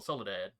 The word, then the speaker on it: Soledad: sorry just sold it there's an e in the middle soledad yeah i know that yeah that is probably how it's pronounced more than likely probably but at some point